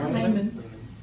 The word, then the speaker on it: Lamon: Ward Lamon, or how do you say that? Layman.